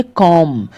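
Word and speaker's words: comb: इसको पढ़ेंगे बॉम, इसको पढ़ेंगे कॉम। तो यहाँ पर तीनों में बी लेटर जो है अक्षर साइलेंट है।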